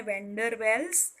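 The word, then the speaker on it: van der Waals: वो फोर्स का नाम है वेंडरवेल्स फोर्सिस, या उसको वांडरवाल्स फोर्सिस भी कभी कभी प्रोनाउंस करते हैं इंडिया में, वेंडरवाल्स फोर्सिस। ठीक है, अब बढ़ते हैं तीसरे पॉइंट की ओर।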